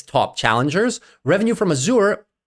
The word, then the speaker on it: Azure: I'll start say Azure somebody said why do you pronounce azour azour because in French it's azur and obviously as a French Canadian native speaker and azur being a French word I kind of use the French connotation but sorry I'll start